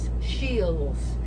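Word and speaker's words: Scheels: we had ever been to this place called shields it's called it's spelled s-c-h-e-e-l-s shields and it's a huge sporting story and we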